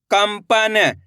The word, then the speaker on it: कंपन: काम अनुस्वार की मात्रा कम प न, कंपन। इस शब्द के अंदर अपन आधा माह का उच्चारण कराए।